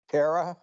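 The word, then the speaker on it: Terre Haute: pronounce that properly terraote it's French it means high land. Hot means high. Terra means land.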